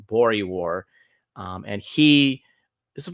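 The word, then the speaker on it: Boer War: and this was when he went to this uh war in South Africa it was the second version of this I think it's pronounced bori War um and he this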